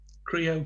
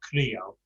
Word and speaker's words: creo: So me siento terrible, not creo. It's creo. Yeah. We do, in English we'd say creo, and we'd elongate the O.